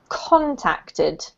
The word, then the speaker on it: contacted: of words this is contacted ah contacted first that's right so to contact and contacted or my contacts it's all the same emphasis on the first syllable okay okay all right